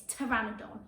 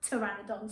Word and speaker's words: Pteranodon: Then we've got, now this one is a silent P on, so this one's trying to get you and catch you out, but it's not, it's Pteranodon. So see if you can say that, Pteranodon.